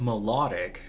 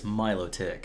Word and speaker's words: Milotic: You would think it's melodic, because it's beautiful and melodies, right? Yeah. But it's Milotic.